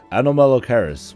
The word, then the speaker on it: Anomalocaris: Actually, wrong. Try again. アノロマカリス。 Wrong. It's Anomalocaris.